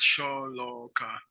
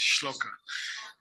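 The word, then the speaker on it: shloka: SCH say schloka scha it's not sha it's schloka okay but the pronounce it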